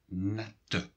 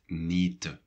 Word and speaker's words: nette: For example, net means clean, nette. If there would only be one T, then we would pronounce it nete.